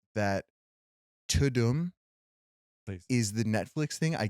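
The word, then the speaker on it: Tudum: want to say that Tadum is the Netflix thing. I get that. But let's remember that Tutum is originally Law and Order cuz Todd is the accent is on the Doom.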